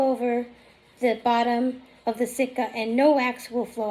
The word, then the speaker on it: sitka: Then you need what is called a sitka.